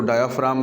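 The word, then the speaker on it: diaphragm: Muscular तय है, उसको डायाफ्राम कहते हैं। ये लफ्ज़ डायाफ्रैगम है, लेकिन इसको जीस में साइलेंट है तो इसको डायाफ्राम पढ़ते हैं।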